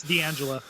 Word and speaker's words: D'Angelo: just, I don't know if that's how you pronounce his name, D'Angelo, is it? D'Angelo Midili? Yeah, it's D'Angelo.